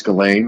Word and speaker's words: Ghislaine: And obviously now with Jeffrey Epstein and Ghislaine Maxwell, that's how you pronounce that first name. I think it's Ghislaine, right?